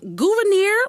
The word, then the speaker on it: Gouverneur: He has a funny name, so forgive me ahead of time for mispronouncing it. Everybody, please welcome Gouverneur Morris.